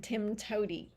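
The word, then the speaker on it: TIMTOWTDI: of its acronym with its own pronunciation Tim toady but even Pearl developers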